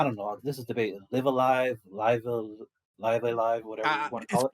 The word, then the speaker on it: Live A Live: prior to this oh that's just the japanese pronunciation it's actually live alive there's all sorts of online discussion about what